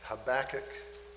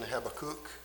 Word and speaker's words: Habakkuk: Habach or the English pronunciation Habacook which is much easier to say I think Habacook.